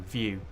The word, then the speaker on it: VYou: There was a website called VU, which is spelled VYOU, View, and it was an Ask Me Anything website.